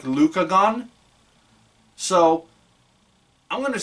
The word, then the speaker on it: Rukagon: but it's the characters pronounce it like Lucagon. So I'm gonna say Lycagon. Like what they actually say is Rukagon, but I'm just the wolf.